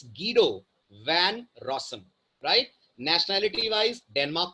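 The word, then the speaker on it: Guido van Rossum: not pronounced as गुडो his name is गडो one rasam right nationality wise Denmark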